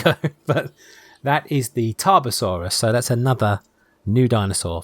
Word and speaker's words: Tarbosaurus: Let's make sure the pronunciation. Tarbosaurus. Tarbosaurus, correct.